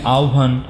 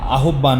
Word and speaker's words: আহ্বান: তোমাদেরকে বলে রাখা ভালো যখন হ এর সাথে ব থাকে যেমন যদি বলি আহ্বান কিংবা গভর এই উচ্চারণটা এটা কিন্তু আমরা আবার কখনো ভুলেই আহ্বান বা এমন কিছু বলবো